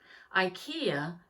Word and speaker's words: IKEA: need a bed an ikea that's how we pronounce it in the united states ikea had exactly what i